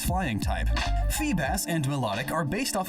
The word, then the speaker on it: Feebas: Feebas is assumed to be a bass, and it transforms into a beautiful serpentine sea dragon. Fun fact, Feebas's name phonetically is the same as Phoebus, which means shining one